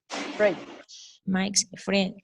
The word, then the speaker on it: fridge: Mike's Fridge. fridge? Fridge. Remember Fridge. that in English, we don't pronounce the E at the end.